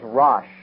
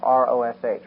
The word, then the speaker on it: Rosh: The word chief in the Hebrew is Rosh. We would spell it, if we put it in English characters, R-O-S-H, Rosh.